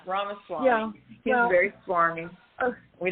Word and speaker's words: Ramaswamy: I thought it was Swaraswamy, but I could be saying that. It's Ramaswamy. Okay. Yeah, Ramaswamy.